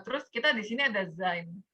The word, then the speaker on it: sein: Nah, terus kita di sini ada sein. Ini EI, bacanya I ya.